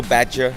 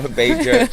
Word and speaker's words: Bager: No Badger, no Bager.